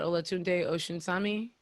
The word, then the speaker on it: Olatunde Osunsami: And for the people who are wondering, I believe you're talking about Olatunde Osunsami.